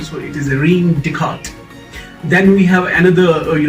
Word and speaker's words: Descartes: in uh decodes so first s and last s remains silent so it is a rheem descartes then we have another